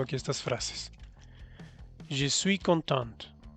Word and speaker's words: contente: Je suis contente. O je suis content o je suis contente. Al pronunciar la T, lo estás diciendo en femenino.